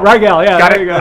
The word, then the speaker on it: Rygiel: netlive pay attention Marvel Disney when you ready to do Doctor Strange call ryel and that's pronounced ryel Rael yeah it all right